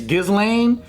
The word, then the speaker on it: Ghislaine: of the song thank God we got Eddie pronounce her name galine galine it's basically if it's felt like that it's Ghislaine Jasleen but you I think Ghislaine or something